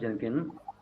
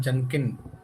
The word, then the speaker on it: Jenkins: I have installed Jenkins and I'm working on Jen. It's not Jenin, it's Jenkins.